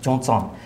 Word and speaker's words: Zhongzang: One is called Zhongzang, written Tibetan T-S-I-R-I, but pronounced Zhongzang, or Zhi'er in Chinese.